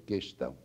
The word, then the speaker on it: questão: estamos falando do trema a palavra questão por exemplo não tem o u pronunciado e automaticamente não leva trema mas a a a pronúncia quão questionário questionar são pronúncias vigentes não é a todo momento de modo que a palavra não tem trema mas a pessoa insiste em pronunciar esse o que não deve ser pronunciada a pronúncia deve ser questão Professor Horácio 3 anos